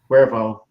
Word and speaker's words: Cuervo: And by the way, I love your last name too, Cuervo. So like the tequila.